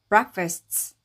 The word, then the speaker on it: breakfast: 왜냐면이 단어는 여기에 힘이 들어가기 때문에이 A는 힘이 빠진 모음소리 어로 발음해서 어가 되고 F는 F. S는 해서 fust breakfast breakfast라고 하시면 됩니다.